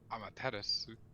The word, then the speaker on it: Amaterasu: there's you don't normally the u is like a weird half silent u which happens a lot